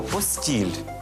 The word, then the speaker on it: постіль: місце для спання або постіль А що можна сказати постіль обидва наголоси в цьому слові нормативні А що ж таке